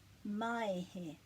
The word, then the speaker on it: Maehe: So, maehe. And we've got the breaks, but we still glide them together.